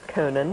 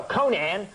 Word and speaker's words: Conan: Okay, Conan. All right, Coney. I'd just be happy if half the people could pronounce it right. I mean, What do they say, Conan? No, they go, Conan.